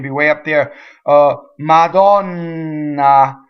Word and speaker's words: Madonna: way up there uh Madonna so the distressed Oh Donna is open a Lamont oh man